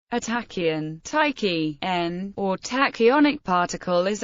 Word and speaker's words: ταχύ: A tachyon, ṭæki.ʒn, or tachyonic particle is a hypothetical particle that always moves faster than light. The word comes from the Greek tau alpha chi upsilon, pronounced tachy, meaning rapid.